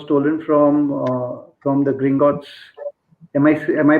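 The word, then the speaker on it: Gringotts: philosopher stone was stolen from uh from the green gos am I am I pronouncing it correct Swani green gos yes yes the green gos bank and it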